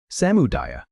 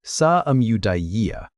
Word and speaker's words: samudaya: The second noble truth, samudaya, say it like sa-amudaya, identifies the origin of dukkha, and the word he used for that origin is tanha.